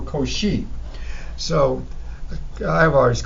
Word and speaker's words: Cauchy: Luis and then the last name once again one of those mathematicians whose last name I have been pronouncing incorrectly for quite some time you know listen up here he goes she who she or cauchy so I have artists